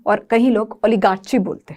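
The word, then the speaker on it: oligarchy: क्या बोलेंगे, ओलिगाक्रेसी, ओलिग्रेसी, क्या बोलोगे, मैं आपको प्रोनाउंसिएशन बताती हूँ। पहले हम बोलते हैं ओलिगार्ची, ओलिगार्ची या ओलिगर, ठीक है, ओलिगार्ची, ये प्रोनाउंसिएशन बनती है इसकी, ठीक है।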